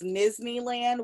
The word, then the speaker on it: Nizneyland: My Instagram is Nizneyland, which rhymes with Disneyland.